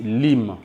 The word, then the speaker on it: limb: Alors, ne prononcez pas encore limbe, mais dites limbe. Limbe qui signifie les membres, donc les bras et les pieds. En anglais, on appelle ça limbe. Alors, ne prononcez pas limbe, mais dites limbe.